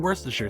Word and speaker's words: Worcestershire: as A1 steak sauce, soy sauce, and even Worcestershire sauce. That's how you pronounce it by the way.